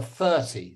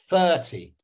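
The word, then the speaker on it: thirty: But if I want to say this number instead, if I want to say the number 30, the number 30, the number 30, the number 30, the number 30, what syllable am I stressing now? The first one or the second one? 30. 30. Which one am I stressing? 30. Which syllable am I stressing? First or second?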